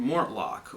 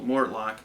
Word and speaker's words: Mortlach: an obscure distillery called Mortlock or Mortlock I can't pronounce it properly I don't speak Gaelic I think it's more luck kind of on the end there you got a